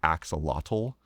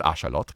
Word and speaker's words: axolotl: tends to call the axolotl. But that is not how you pronounce that word. It's axolotl.